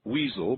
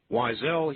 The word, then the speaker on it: Weisel: out there cruel people i'm sure who would pronounce his last name weasel but weasel he is not wisely he is is it wisely yep that's the